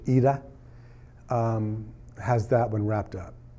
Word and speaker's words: Ida: I think Ida are as they pronounce it in Polish EDA has that one wrapped